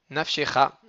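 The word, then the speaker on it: נפשך: Alors que nafshecha, il va être nafshecha, donc millera. C'est la dernière syllabe, le cha euh, qui va être accentué.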